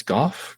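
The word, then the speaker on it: Gaugh: should reach out to is it gof Denise Goff go g yeah it's spelled a little differently g a u h she's Irish it's called off should reach out to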